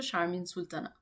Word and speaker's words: শারমিন সুলতানা: এরপরের বাক্যটা হচ্ছে মাপের শাহমিন সুলতানামাল মানে হচ্ছে আমি আমাকে ডাকি মানে আমার নাম শাহমিন সুলতানা আমি আমার নামটাকে ফরাসি ভাষায় উচ্চারণ করছি তবে এটার রিয়েল প্রোনাউন্সিয়েশন হচ্ছে শারমিন সুলতানা বাংলাদেশ বাংলাদেশ এর মানে হচ্ছে আমি বাংলাদেশ থেকে এসেছি।